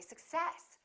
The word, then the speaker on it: success: so in this case we stress the second part and we say success i wish you success